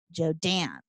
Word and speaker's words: Joden: So if you have to, like, emphasize the second syllable, you know, like Jodan.